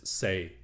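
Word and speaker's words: 四: So in Cantonese, 4 is say, and death is say.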